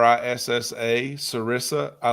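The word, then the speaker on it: Serissa: I like a a plant called sarissa. S e r i ss a sarissa.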